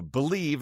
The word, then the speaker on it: Bleav: Again, the name of our show, Believe in San Diego Baseball. That's spelled BLEAV.